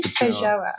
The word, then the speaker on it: feijoa: But the I've never actually myself had a feijoa. How do you say it again for me? Feijoa.